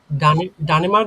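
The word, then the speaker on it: Dänemark: কমে আউস ডনেমার দে ডেনেমার্ক ঠিক আছে ডানে মার্ক বললে এটা কিন্তু ভুল উচ্চারণ হতে পারে হ্যা ইসকমেউস ডেনেমার্ক হ্যা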